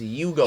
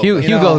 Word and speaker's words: Hugo: His name's Hugo. Hugo. Hugo in. all The honest- H is silent. The H is silent.